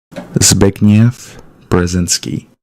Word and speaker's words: Brzezinski: here to you of um of how you pronounce this correctly. Bzinski.